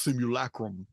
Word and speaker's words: simulacrum: The idea that we live in this simulacrum, it's pronounced simulacrum in the old Latin books, for which I got at the Oxford English Dictionary.